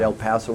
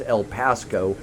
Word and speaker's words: El Pasco: It's not El Paso. It's El Pasco because Pasco is the county that Thirsty Buffalo is located in.